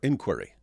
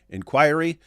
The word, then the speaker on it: inquiry: They're both completely acceptable. And yet, even though I know that, even though I know inquiry and inquiry are both are both perfectly acceptable pronunciations, every time I say